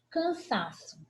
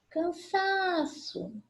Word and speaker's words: cansaço: Cansaço. Cansaço. Penúltima sílaba tônica, paroxítona.